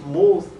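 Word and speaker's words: מות: But it comes from a Hebrew word which is pronounced muth, and it does not necessarily mean someone who's dead and lying in a casket or something like that.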